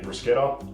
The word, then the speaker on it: bruschetta: Today I'm doing a cooking class, so I'm going to teach you how to make bruschetta. People often pronounce it as bruschetta.